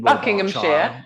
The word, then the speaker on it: Buckinghamshire: I don't know how you pronounce it. Buckinghamshire.